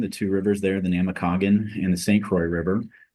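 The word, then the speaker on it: Namekagon: toorgle it out but how do you pronounce that other one it is the namakagan namakagan where does that Herald from what's it mean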